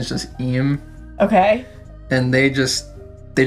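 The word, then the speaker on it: Imu: spelled as emu like I AMU but the pronunciation is just IM okay and they just they just run the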